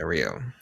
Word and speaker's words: Rhio: It's RHIO, literally. Yeah, Rio.